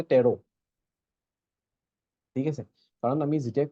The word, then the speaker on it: Tarot: শিখিয়াতে আরো সাব টেরো তো এই টি টু উচ্চারণ হয় অকল কি বলি কয় যে টেরো ঠিক আছে কারণ আমি যেটা কোর্স করি অকল